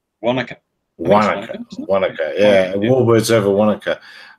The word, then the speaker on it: Wanaka: Wanaka.